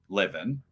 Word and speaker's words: Levan: Well, he says it's pronounced Levin, but Levan just sounds better, so I've just given up and called him.